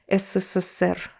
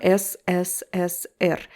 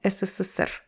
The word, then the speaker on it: СССР: And make sure you pronounce it as one word, СССР. This SSSSSSSR, right? So it's not SSSR. No, СССР, one word.